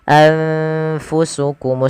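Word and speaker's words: أَنفُسَكُمْ: Cara membacanya adalah nunnya disamarkan kepada fa. Anfa, anfu, anfu, bukan angfu tapi anfusukum mustakbartum.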